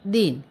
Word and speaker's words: दिन: द को छोटी ई की मात्रा लगी है तो उच्चारण हुआ दी और न, दिन।